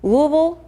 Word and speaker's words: Louisville: It's a privilege to visit this campus, to visit your city, which I'm learning how to pronounce properly as Louisville.